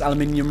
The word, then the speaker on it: aluminium: replaced with sturdier aluminium don't have me saying i pronounce aluminium wrong we don't call it aluminum in the good old uk of a okay hell